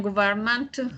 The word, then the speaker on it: government: And then, and in fact, after 15 days, yes, the Italian government established. The way to pronounce this word is government. Government. So Italian once again, you don't pronounce the middle of the word, only the beginning at the end.